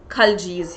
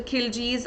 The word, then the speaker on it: Khilji: be talking about the kaljis here the kaljis or the kiljis uh there's a little uh you know differentiation the pronunciation some say it is kaljis some say it is kiljis so any which way